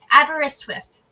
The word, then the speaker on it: Aberystwyth: Tell me how to pronounce that Welsh university. Aberystwyth.